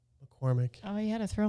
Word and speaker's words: McCormack: McCormack. I'm still trying to teach her how to say her last name. McCormack. Like the spice. McCormack. But it's, You don't really say, but you it's just MACK.